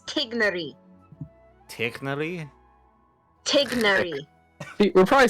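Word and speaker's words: Tighnari: more of a no it's more of like a hard G tignary it's tignary technically we're probably saying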